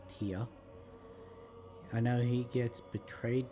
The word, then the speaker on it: Tyr: I know Tyr, which is Tyr, it's actually pronounced Tyr.